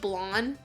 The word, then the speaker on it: Blanc: to Blanc is just blonde yeah which was really annoying yeah I guess technically in French you would pronounce it that way the C would be incredibly subtle if it's there at all I don't know the